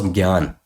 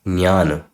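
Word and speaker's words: jñāna: So this word for me was gyan, but the correct pronunciation of this word is jnana. Jnana. Why? Because if you split this word, if you split this letter, sorry, it is made of ja and nya. So you pronounce this as jnana, jnana. A bit of ja and a lot of nya, jnana.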